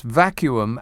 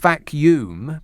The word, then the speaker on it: vacuum: are of course correct it's vacuum as in continuum there you are you see completely correct in every respect it's not vacuum because that would be